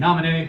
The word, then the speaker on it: Naminé: There's a girl named Naminé, who I thought was Namine for a while because I couldn't pronounce the accented E at the very end of her name.